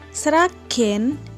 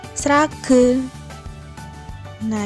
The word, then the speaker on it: Sragen: Kenapa pakai taling? Karena kalau kita gunakan pepet, nanti dibacanya srage. Nah, kita gunakan taling. Kemudian baru aksara ge. Nah, ini menjadi G, GE. Kemudian aksara no, karena aksara no-nya mati, kita gunakan pangkon. Dibacanya sragen. Dan yang terakhir yaitu cokro keret.